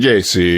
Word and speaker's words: Gacy: Gacy. Just say it like it's the Italian name that it actually is. Yeah, Gacy.